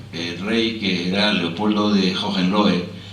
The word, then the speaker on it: Hohenlohe: que era Leopoldo de Hohenlohe, que aquí, como pronunciaban bien el alemán, decían Leopoldo de Ole Ole, ¿no?